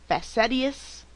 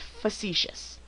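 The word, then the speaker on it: facetious: that a lot of you are having difficulty pronouncing it looks like it's perhaps facetus but in actuality the word is pronounced fous this is something not meant to be taken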